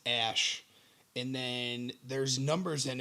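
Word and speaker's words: Æ: It's part of it is pronounced as Ash, and then there's numbers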